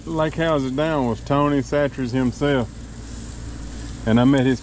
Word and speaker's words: Chachere's: And 3 or 4 lake houses down was Tony Chachere's himself. And I met his kids out there fishing. And I asked them, how do you say your last name? They said Chachere's.